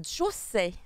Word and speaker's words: josei: C'est Tiens, un josei. Voilà, j'apprends à tout le monde à le prononcer correctement. Parce que José, c'est le nom de mon père. Donc j'aimerais bien que. Après moi, Josei.